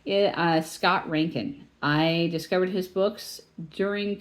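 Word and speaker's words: Reintgen: like yeah love Scott Ranken and by the way you don't uh write his name the way you pronounce it his last name is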